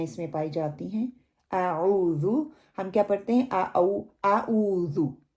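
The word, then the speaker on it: أعوذ: ذا جو ہے اس کے اوپر پیش ہے، اس کو پیش کی طرح پڑھنا ہے. ذو جیسے ہم کہتے ہیں زو، چڑیا گھر جیسے ہوتا ہے، بچوں کو ہم کیا کہتے ہیں؟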